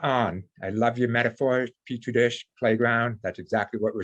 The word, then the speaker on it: petri dish: And that's so they're like a petri dish of or petri dish, I think is the proper pronunciation.